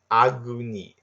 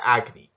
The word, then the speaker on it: Agni: I think that's how you pronounce that flame demon's name. Agni. Yeah, Agni. Like agony, agony.